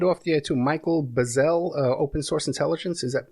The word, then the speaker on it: Bazzell: You mentioned off the air too, Michael Bazzell, Open Source Intelligence. Is that pronounced that correctly?